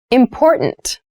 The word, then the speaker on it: important: to consider carefully yes the pronunciation of this word that first t is actually reduced it sounds more like a d in fast speech water is important to